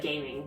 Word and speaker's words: Gaming: It looks like gaming. Yes. It's pronounced Gaming.